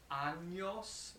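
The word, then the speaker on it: años: have of your age really important that you pronounce this like anos because number one that's the correct form but if you sayos you're saying that you have 29 anuses so it's a different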